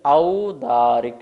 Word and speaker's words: औदारिक: तो यहाँ पर ओ नहीं है, ध्यान रखेंगे। औदारिक है, क्या है, औदारिक।